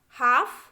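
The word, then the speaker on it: half: चलिए देखिए CALF लिखा है, देखिए तो L जो है A के बाद आया है तो उसको हमें प्रोनाउंस नहीं करना है। तो काफ, हाफ, palm, would, should, could, फोक, योक, इस तरीके से पढ़ना है बच्चों।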